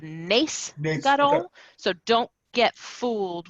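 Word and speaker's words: נס גדול: So I recorded it saying nice Gadol instead of nace Gadol.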